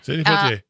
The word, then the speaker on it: Sidney Poitier: Sidney Poitier.